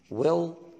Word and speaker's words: well: موجودة في كلمة well، ال L اللي هنا الصوت ده بنسميه dark L اللي هو ال L التقيلة دي اللي هي مش عندنا في العرب اسمها L L. اللي بيحصل هنا ان اللام واقفة في لساني واقف في النص، لا بيلمس فوق ولا بيلمس تحت.